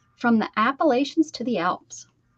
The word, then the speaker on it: Appalachia: I'm from the Appalachia Mountains. You're not, because there's no such thing. Appalachian? Appalachians.